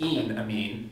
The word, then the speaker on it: enamine: So to me, the most logical way to pronounce this is ene amine. The ene here is from alkenes.